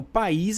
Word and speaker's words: país: gente vai dizer Diogo país é uma palavra oxítona e isso não tá errado não isso tá certo país é uma palavra oxítona por a sílaba tônica é a última né a sílaba tônica